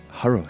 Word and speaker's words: Harro: uh yeah surprisingly I'm sitting here with uh horo now Haro sorry you can call me Harry doesn't matter